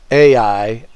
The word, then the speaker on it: Ai: the people they come against this city called a I spelled a I so I pronounce it AI I kind of want to